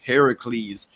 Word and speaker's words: Heracles: And uh think so Zeus had a child and named it Hercules, which unless I'm mistaken was originally pronounced Heracles, which is after Hera, but it's not Hera's kid.